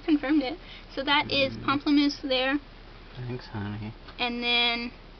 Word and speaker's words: Pamplemousse: And then I've got Pamplemousse here, which a lot of people don't know how to pronounce. It's Pamplemousse. It means grapefruit in French.